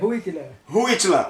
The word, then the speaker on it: Huitila: O H é só de R, é Huitila.